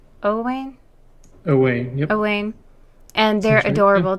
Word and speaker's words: Owain: so I paired her with how do you pronounce his name owain owain owain and they're adorable together they are